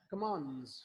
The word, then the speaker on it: commands: अब देखिए, मैंने कहा 2 कॉन्सोनेंट्स के सेंटर में टी या डी आ जाए तो प्रोनाउंस करते हुए आप इसको ड्रॉप कर सकते हैं।